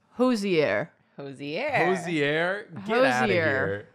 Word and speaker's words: Hozier: According to Hosier, it's Hosier. Get out of here. It's okay. Hosier. Hosier. That's It's not Hosier. It's Hosier.